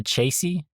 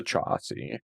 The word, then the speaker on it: chassis: The the chassy. The chassy. Not the chassis. The chassis. It's kind of interesting because each of those has half of the correct pronunciation. Ah, that's funny. And then the correct one is chassis, right? Chassis. The chassis. The chassis. The chassis of the vehicle. Um, yeah. So, chassis is how you say chassis was heavily damaged.